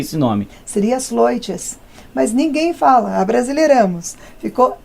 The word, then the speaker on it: Sleutjes: com a gente agora, vai falar como se pronuncia esse nome. Seria Sloites, mas ninguém fala, abrasileiramos. Ficou Esleutes.